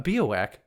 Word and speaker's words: Biawac: A Bowak, which is a funny sounding word, it's spelled B I A W A C, and